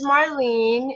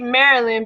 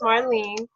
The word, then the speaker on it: Marlyn: Her name is Marlene. It may read Marilyn, but it's pronounced Marlene. Yeah, Um, there's no I.